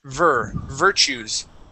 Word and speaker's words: virtues: So right here, instead of virtues, it is virtues. Virtues. Good, yes. And that T we pronounce like a CH.